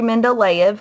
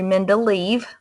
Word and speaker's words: Mendeleev: The first man you need to know is Dmitry Mendeleev, or Dmitry Mendeleev. His name is pronounced both ways, and he's considered the father of the periodic table.